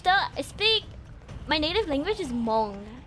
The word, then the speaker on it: Hmong: My native language is Hmong. It's like, it's spelled out like H-M-O-N-G. The H is silent, guys. But like, I'm not even good at speaking my native language.